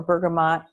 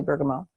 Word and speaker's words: bergamot: Now, bergamot, or bergamot, if you pronounce the T, which it's a French word, so it's really bergamot, is an oil that's very good for grief.